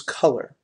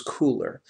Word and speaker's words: Kuler: is how to use color or if you prefer to pronounce it differently how to use cooler the website we're referring to in today's session is cooler.